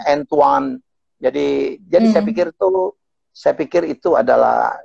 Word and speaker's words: Antoine: Antoine misalnya bacanya Antoine.